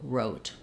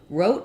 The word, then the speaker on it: wrote: pronunciation the O again letter O says its name when we have a silent e at the end um I should have